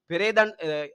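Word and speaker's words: පෙරේදා: பெரேதான் அர்த்தம் இல்ல. இது அடுத்து சொல்ல கேட்டுக்கொள்ளுங்களா? பெரேதா. பெரேதான்னு சொன்னா முந்த நாள்.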